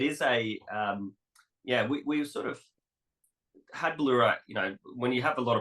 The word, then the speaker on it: Bauloora: Yeah, pronounced Bauloora, which is catches a lot of people. It is we sort of had Bauloora.